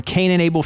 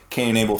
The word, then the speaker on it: Cane & Able: And I do that through my company called Incurable Fitness. It's spelled C-A-N-E and A-B-L-E.